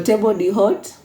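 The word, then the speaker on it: table d'hôte: Allah cards menu so table the hot so H is silent the body hot and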